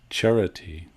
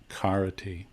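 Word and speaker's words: carati: this word for walks it's charity not karate so in pali we pronounce this c as chara cha charity so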